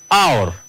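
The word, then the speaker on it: hour: read after me please our our look H in this sentence word it is silent we canot read as how but we says our so H is silent and then we can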